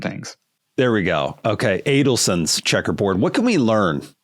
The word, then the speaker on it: Adelson: Along those lines of color, you talk about, is it Adelman? How do you pronounce the checkerboard? Adelman. Oh no, that's Adelson. Sorry, there's very similar names.